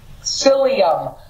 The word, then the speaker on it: psyllium: folks and what you can do is use psyllium psyllium seed is a Powerhouse for cleaning up